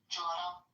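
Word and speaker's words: جورة: Jora. Jora. Welcome to your Jora break. That's actually how the Palestinians say it. I don't know how other people say it.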